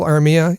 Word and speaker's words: Armia: Apparently, I said Joel Armia. It's Joel Armia, of course.